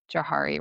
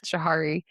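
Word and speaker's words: Johari: sense to people where I hope I'm saying Jihari right. I said it wrong and my sister-in-law had to correct me one time. I think it's Jahari.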